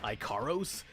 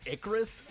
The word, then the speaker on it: Icarus: Icaros? As in Icarus? I know I joked about bad pronunciation earlier, but Kid Icarus exists. They got no excuse.